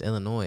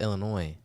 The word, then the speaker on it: Illinois: No, it's Illinois. It has Illinois, S, but it's pronounced Illinois.